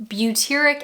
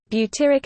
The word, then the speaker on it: butyric: an acid that I don't know how to pronounce. Butyric acid. And yes, I asked Google. Butyric acid.